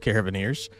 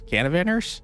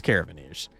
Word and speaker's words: caravaneers: Sounds strange, but I'm pretty sure it's pronounced caravaneers. Run out of supplies. Canavaners? No. It's caravaneers.